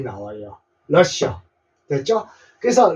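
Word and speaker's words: Russia: 그래서 러쉬라는 발음이 나와요 러시 됐죠 그래서 러시아의 영어 발음은 러시 러시아라고 외워 두십시오 러시아 아 우리 러시아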